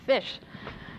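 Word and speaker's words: ghoti: pronunciation is because you take the gh from enough and you take the o from women and you take the ti from nation and you get fish and it's spelled g-h-o-t-i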